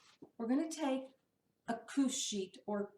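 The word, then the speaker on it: couche: going to take a couch sheet or couch sheet I've heard it pronounced both ways it's spelled like couch but it's not pronounced like couch and these are special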